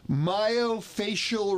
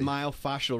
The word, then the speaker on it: myofascial: Myofacial release. I'm not sure I even pronounced it correctly. It's called myofascial release.